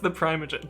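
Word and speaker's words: ThePrimeagen: It's pronounced the Primogen.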